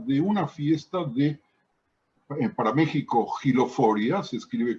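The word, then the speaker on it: México: concepto y habla de una fiesta de para mexico hero for ya se escribe con x para los amigos que están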